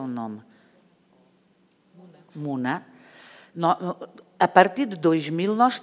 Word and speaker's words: Muna: Pero esa población musulmana está ahí, ¿y cómo se pronuncia tu nombre? -Muna.